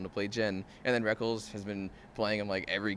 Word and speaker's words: Rekkles: It's pronounced Rekkles. He said he can do it either way.